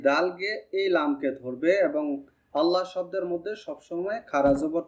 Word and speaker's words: الله: মোটা উচ্চারণ হবে, কারণ আল্লাহ শব্দের পূর্বের হরফে যদি জবর পেশ থাকে তাহলে আল্লাহ শব্দের আওয়াজটা মোটা হয়, আর যদি জের থাকে তাহলে পাতলা উচ্চারণ হয়।